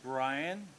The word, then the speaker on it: Brian: way my name is Brian rhymes with Lion good and who's my